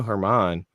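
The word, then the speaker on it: Germán: his name thank you it looks like German that's that's the way his name is spelled I never know how to pronounce it Domingo Herman who who the next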